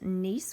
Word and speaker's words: gneiss: And then under metamorphic, we have marble, which a lot of us recognize, and slate, and that is gneiss, pronounced gneiss with a silent G, and schist, all different types of rocks.